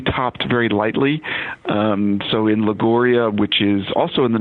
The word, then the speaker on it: Liguria: for classic recipes from Liguria. Is that how you say that? You've got it perfect.